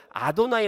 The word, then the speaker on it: 아도나이: 여호와라는 히브리 단어가 나오면 그들은 자동적으로 여호와 라고 발음하지 않고 아도나이 라고 발음합니다 주님 그래서 이 영어